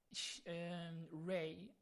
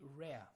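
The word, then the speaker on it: Rey: layers now rare ray I still don't know how to pronounce her name it's ray but I'm more you know to say rare because it sounds more feminine kind of like that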